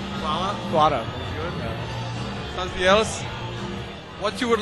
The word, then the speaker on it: hvala: Kuala. Hvala?